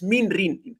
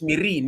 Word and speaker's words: Min: I literally I think I I I pronounced your name as Coach Mein, you know, like Meen from the Game of Thrones. So, today is when I real I literally realize it's min.